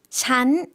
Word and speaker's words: ฉัน: ฉัน 네, 이것도 마찬가지예요. 마치 사성으로 발음하듯이 할 수도 있겠지만 우리가 일상생활에서 좀 더 자연스럽게 발음하기 위해서는 잔, 삼성으로 발음해 주시면 되겠습니다.